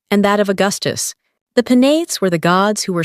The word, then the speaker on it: Penates: 따라서 키벨레와 베나테스는 thus, Sibyl and Penates, 각각 세 음절로 발음합니다. Each have 3 syllables.